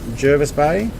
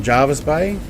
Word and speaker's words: Jervis Bay: for the naval uh pronunciation of Jervis Bay is that how I was pronouncing it Jervis Bay not Jarvis Bay I have no idea